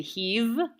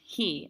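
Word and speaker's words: היא: way, little pronunciation thing, some of my students will say heave because they see a vav there. But the vav is not meant to be pronounced in this case. It's one of those weird exceptions. So it's actually pronounced he, as if the vav were a yud.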